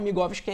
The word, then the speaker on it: Migowski: E para quem nos assiste aqui agora, quiser me seguir no Instagram, é @JoãoMigovski, se escreve normal e Migovski é MIGOWSKI.